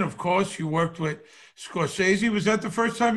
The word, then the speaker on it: Scorsese: Actually, you have to say Scorsese. Scorsese, yeah. That's Scorsese. True. That's the correct pronunciation.